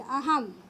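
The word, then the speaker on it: अहं: और जिस शब्द में अनुस्वर होता है, जैसे यहाँ देखिए अहम, ह के ऊपर अनुस्वर है, इसका उच्चारण म जैसा होगा, अहम।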